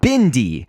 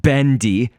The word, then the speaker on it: Bendy: that people are saying I'm saying Bindy so like b i n rather than b n and so I just want to say again we are going to have slight pronunciation differences just because we come from different parts of the world and saying Bindy is basically like bendy to us whereas Wendy and Wendy